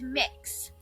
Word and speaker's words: Mix: It's Mix. So kind of like cookie mix or mixing bowl, that sort of thing. That's how it's pronounced.